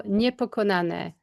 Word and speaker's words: Niepokonane: I can't pronounce it. Nikon. How do you say that word? Wonder Woman Now, Niepokonane.